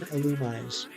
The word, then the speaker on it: Illumise: I will be darned before I pronounce it any way other than Illumise.